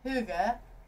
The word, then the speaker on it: hygge: One of my wine guys brought in Nisa Hygge wine, which is the name of our boat, Hygge.